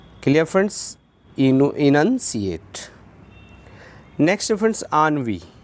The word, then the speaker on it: ennui: Next friends आनवी, ENNUI आनवी, pronunciation पे ध्यान दें आनवी।